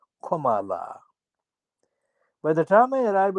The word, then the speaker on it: Kamala: six-year-old har is's greatness exactly how to pronounce her name is comma followed by la commala by the time I